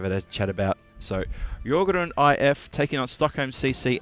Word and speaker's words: Djurgården: There's many different ways to pronounce this name, but tell you the right way, Djurgården. It's pronounced Djurgården, apparently.